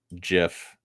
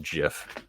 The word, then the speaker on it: GIF: want to pronounce it gif because that's the stupidest thing I've ever heard who pronounces it gif do you give your child a gift for Christmas H GIF GIF people